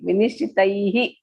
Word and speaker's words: विनिश्चितैः: Sudha is pronouncing properly. Vinishchitaihi.